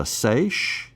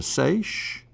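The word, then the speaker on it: seiche: And I believe, and correct me if I'm pronouncing this wrong, but a sace, is it a sich? Yeah, that's correct.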